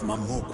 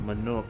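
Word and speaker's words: Mamook: The rite of succession, the means by which the autarch of Mamuk was chosen. The autarch of Manuk was chosen. Okay, so that's how you pronounce that.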